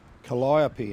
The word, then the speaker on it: Calliope: Calliope, eh? That's the correct pronunciation.